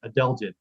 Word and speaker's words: adelgid: agid and Adel adelgid that's how you say it adelgid it's the Woolly adelent